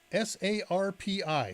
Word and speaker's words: sarpi: link here in Yan chat how about sarpi s a r p i sarpi if you didn't know how to pronounce it let's put a slide up for